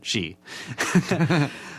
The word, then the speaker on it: Shi: I know how to say the second one, she.